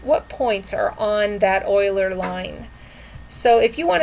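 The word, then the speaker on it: Euler: up an Oiler line Oiler that's spelled e u l e r Oiler line and I want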